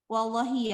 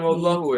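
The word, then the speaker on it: والله: Wallahi ya, benar-benar menakjubkan. 6. Wallahi cara bacanya ya. Keluar mobil dan Bukan wallahu ya. Kalau Iya, kita pakai wallahu itu nanti bukan sumpah ya. Tapi kalau wallahi itu sumpah.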